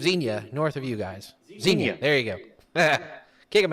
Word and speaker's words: Xenia: oh hang on hang on how do you pronounce the city of Xenia north of you guys Xenia there you go kick him out yeah the